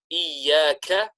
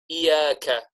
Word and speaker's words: إِيَّاكَ: And we said the common mistake made in this particular ayah is that we forget the shadda. We forget to pronounce the shadda. So sometimes instead of saying إِيَّاكَ, instead we incorrectly say إِيَّاكَ, إِيَّاكَ.